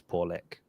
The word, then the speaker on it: Pawlak: My mom, Christy Pawlak, has arrived. And that's why I just wanted to make sure she knows I do know it's Pawlak. And I didn't just say it wrong.